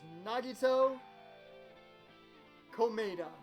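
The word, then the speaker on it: Nagito Komaeda: The victim is Nagito Komeda.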